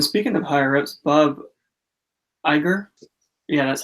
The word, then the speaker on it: Iger: And speaking of higher ups, Bob Iger, yeah, that's how you say his name.